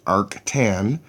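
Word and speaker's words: arctan: of the tangent ratio the tan minus one button pronounced Arc tan finds this angle okay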